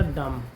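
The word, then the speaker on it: dumb: जैसे अभी हमने एक वर्ड लिया था डम। डम मींस होता है गूंगा। तो इसमें भी बी साइलेंट है।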